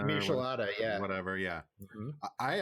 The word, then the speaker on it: Michelada: I can never pronounce that. The Michelina. Michelada, yeah.